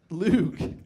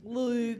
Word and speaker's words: Loog: Loog. Loog.